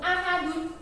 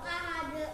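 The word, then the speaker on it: أحد: Qul huwallahu ahadun. Coba cara bacanya bagaimana Mas Wahabi? Qul huwallahu ahad. Bagus. Ahad ringis nggih, boten ahadu.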